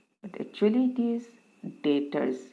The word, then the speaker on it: debtors: might pronounce it as depthers but actually it is deters b is silent so who are deters debtors can be a